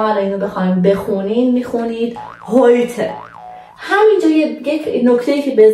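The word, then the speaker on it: heute: اما در زبان آلمانی اگه آخر کلمه ما یه ا داریم حتما باید اون ا رو هم تلفظ کنیم، پس اینجا خونده میشه هویته.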